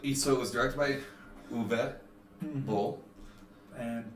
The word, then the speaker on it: Uwe Boll: Especially, and during the last video, I mispronounced his name. Sorry, but it's a Uwe Boll, not Uwe.